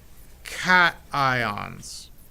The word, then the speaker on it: cation: talked about ions positively charged ions are called cat ions and it's easy to remember because a positive